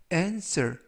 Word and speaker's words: answer: W는 이번 단어에서 묵음이라서 발음이 되지 않습니다. 그래서 answer 이라고 발음하시면 되겠고요.